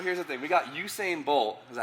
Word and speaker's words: Usain: We got Usain Bolt. Is that how you pronounce his name?